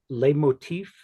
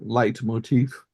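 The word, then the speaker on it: leitmotif: work quite a bit L Motif is that the correct pronunciation like recurring themes and yes okay is that essentially what you're see yeah exactly um there also uh light Motif is is also legitimate and probably a little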